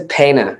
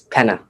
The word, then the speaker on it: Dellapena: at that yeah everybody it's always pana it's penna yep yes like like nate penna right same thing yeah